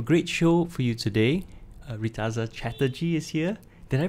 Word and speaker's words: Reetaza Chatterjee: we have a great show for you today ritas chatterjee is here did i pronounce that right that's right fantastic phew but